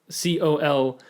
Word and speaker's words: colonel: it was very eye-opening i learned how to say colonel through clue oh but it wasn't because that was spelled the right way or spelled not even it's spelled this way uh c-o-l-o-n-e-l but like my dad was just like i was trying to like call cool and he's like no no colonel colonel colonel mustard just home coral mustard